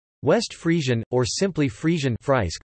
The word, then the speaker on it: Friesk: Frisian, or simply Frisian Friesk, pronounced Fries-K, Dutch, Fries, is a West